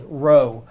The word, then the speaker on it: rho: the Greek letter Rho it looks like a pea it's not a pea it's an R sound row but it's made just